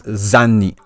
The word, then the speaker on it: Zani: Here in Japanese, it's being written as Zani. Zani. So Zani. So Going from the Japanese, that's how her name is supposed to be pronounced, not Zany. It's supposed to be Zani.